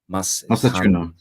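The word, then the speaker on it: Mastantuono: It's um Matanu. What's his name? Machuno. That's how you say it. Franco Machuno.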